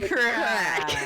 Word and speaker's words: craic: That's a good Come on. crack. There we go. She said it right.